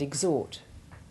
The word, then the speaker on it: exhort: The H is sounded in exhale and exhume, but is silent in exhaustion, exhibition, exhilarated, and exhort.